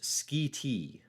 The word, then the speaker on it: Schiti: Christopher says it's pronounced Schiti.